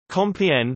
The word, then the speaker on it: Compiègne: Compiègne, French pronunciation, KPJ, Picard, Compiègne, is a commune in the Oise department in northern France.